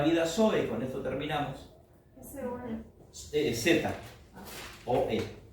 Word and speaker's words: Zoe: Z, o E, acento en la E, Zoe, que es la vida de Dios.